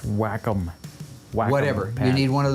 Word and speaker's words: Wacom: pad would you get on that oh it's pronounced wacom whatever you need one of those to work